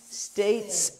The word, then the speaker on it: states: States, and you don't forget the S. States.